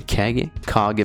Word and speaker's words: Kage: The Kage mansion, that's how you say it.